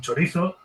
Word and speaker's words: chorizo: hombre, pero normal, porque se hacen paella con chorizo. Claro, hombre, es que, Packer, joder. Perdona, ¿se pronuncia chorizo? Ponen una T ahí que no está.